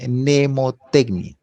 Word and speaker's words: mnemotecnia: lo que ustedes entienden mapas conceptuales y la nemotecnia ya así se pronuncia nemotecnia está capacidad que todos tenemos de